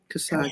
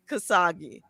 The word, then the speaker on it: Khashoggi: How do you pronounce it? Khashoggi. Khashoggi, K-A-S-H-O-G-G-I. Yes, Khashoggi.